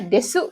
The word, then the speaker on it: です: Ini ditulisnya desu ya, tapi dibacanya des gitu ya.